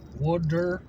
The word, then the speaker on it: water: Water? Water is kind of like Pennsylvania accent. And it sounds like W-O-O-D-E-R.